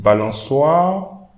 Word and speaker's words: balançoire: Balançoire. We don't read the E, but we should pronounce the R. Balançoire, balançoire. AU, then O.